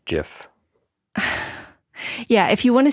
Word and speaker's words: GIF: is it just me I believe it's pronounced Jiff yeah if you want